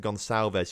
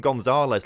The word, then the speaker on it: Gonçalves: plays it out to Gonçalves, who I keep saying it wrong, despite you telling me how to say it right. I think I called him Gonzalez last episode as well, someone pointed out.